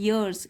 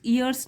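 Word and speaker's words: years: सिक्के यर्स rolled bye य से शुरू हो रहा है यर्स इयर्स नहीं बोलेंगे इसको यर्स रोल्ड बाय दैट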